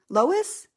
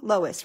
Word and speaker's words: Lois: Louise. Lois, did I say it wrong? Lois, right? Okay. No E.